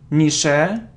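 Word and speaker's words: niche: so what's next so it isn't Nisha or niik it's Nish Nish it's long sound and Sh Nish so we normally say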